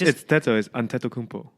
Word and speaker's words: Antetokounmpo: Okay, how do you pronounce it? Giannis Antetokounmpo, is that right? Maybe not. Antetokounmpo. Okay, whatever. It's Antetokounmpo.